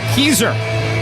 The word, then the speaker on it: Keer: the back judge Kanan keer I've been informed that's exactly how you say it the keer family long